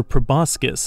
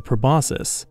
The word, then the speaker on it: proboscis: the development of a proboscis or proboscis as it's sometimes pronounced on earth various animal species feed using a proboscis both above the waves